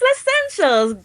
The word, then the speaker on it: Leccentials: Have I pronounced it right? Yes, it's Less Essentials.